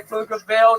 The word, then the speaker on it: Pflugerville: When I say Pflugerville, the P is silent.